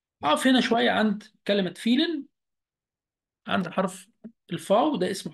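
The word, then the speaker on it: vielen: أقف هنا شوية عند كلمة فيلن، عند حرف الفاو، ده اسمه حرف الفاو في اللغة الألمانية. حرف الفاو في النطق بيتنطق زي حرف الإف تماما، يبقى وإحنا اتفقنا من شوية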